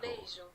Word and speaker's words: beijo: Beijo. Beijo. Oh. I was wondering too how it's pronounced. Beijo. Beijo. Like banjo, but bejo. Beijo. But it's like beige, bejo.